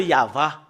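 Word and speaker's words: יהוה: ici jusque là c'est y voilà voilà le yava et nous voyons très bien le et le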